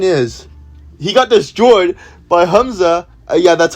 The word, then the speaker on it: Hamza: But the point is, he got destroyed by Hamza. Yeah, that's how you pronounce it.